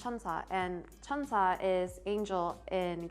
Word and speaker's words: 천사: In Korean, it's pronounced 천사, and 천사 is angel in Korean.